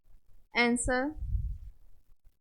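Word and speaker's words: answer: अब देखेंगे ऐसे वर्ड जिसमें डब्लू साइलेंट है। रॉन्ग, आंसर, आंसर भी बोल सकते हैं।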